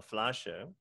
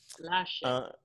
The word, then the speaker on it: Flasche: So if it ends with an E, you say the E, mm-hmm. right? So I know your grade school teachers have told you for years that E on the end is silent. And then you get to college and you start learning German and your professor tells you, say the E. Right. Okay. Exactly. So Flasche. Flasche.